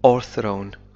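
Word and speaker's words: o'erthrown: V ووضعت مكانه apostrophe إنه في بعض اللهجات الإنجليزية لا ينطق V في هذه الحالة ونقول فقط or thrown and the fruitful fields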